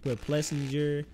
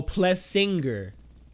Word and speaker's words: Plessinger: It's pronounced Plessinger. The G, his name is not pronounced. It's like, it's pronounced Plessinger. Like, what? Wait, I'm so confused. Oh, Plessinger.